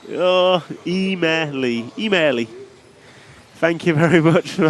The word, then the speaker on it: Emili: How to pronounce the Finnish name Emili correctly? Oh, Emili.